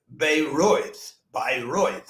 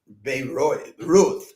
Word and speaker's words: Bayreuth: So Bruckner then, instead of just sending it, he went to Bayreuth, Bayreuth, I guess is pronounced in German, but Bayreuth is how we would.